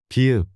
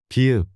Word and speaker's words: 비읍: 비읍. B or P. This is pronounced like a soft B in boy. Or P in play. 비읍.